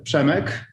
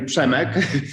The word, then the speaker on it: Przemek: Hard to pronounce name, Przemek. The funny thing is, when he used to work in United States during studying, everybody had difficulties with pronouncing his name, so he said his name is Jacob.